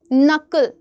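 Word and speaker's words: knock: कोई दरवाजे पे नॉक करता है तो भी एन से ही बोलते हो।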